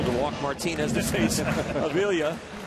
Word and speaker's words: Avila: Avila. Okay, this is really hard because his grandfather goes by Avila. That's right. Avila. We got a different, same name, same family, different pronunciation.